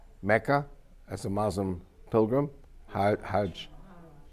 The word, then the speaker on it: Hajj: as a Muslim Pilgrim Hajj but in Egyptian Arabic it's hag oh so I'm married